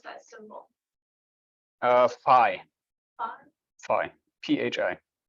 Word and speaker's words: Phi: How do you pronounce that symbol? Phi.